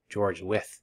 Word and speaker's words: George Wythe: Oh, pronounced with George Wythe.